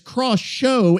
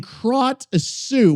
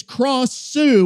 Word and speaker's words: Krasue: Krasue pronunciation guides confirm that splattering it as cross-show is closer to the intended sound than krot-sue. What does that even fucking mean? Gra or craw. So essentially it's cross-sue with that rising tie tone on the second syllable.